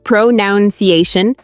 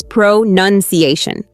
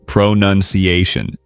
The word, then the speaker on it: pronunciation: People often say pronunciation, but it's pronunciation. Yep, no noun in there, it's nun, pronunciation.